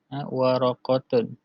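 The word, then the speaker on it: ورقة: Waraqatun. Waraqatun. Dengan qaf. Bukan kaf yang ni.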